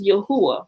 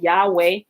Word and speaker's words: Yahuwah: although people pronounce it yahweh i ain't gonna get on people for their mispronunciation but as i study yahweh if the w is actually it shouldn't be a w it listen what is